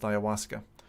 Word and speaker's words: ayahuasca: Steam it's spelled aya h.u a ska and pronounced ayahuasca so that was that and then lo and